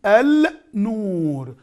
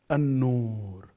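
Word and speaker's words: النور: I read it, an-nur. Now, my dear viewers, we finished the sun letters, which is, if it comes, any letter of them comes after al, make the lam non-pronounced. So we're going to go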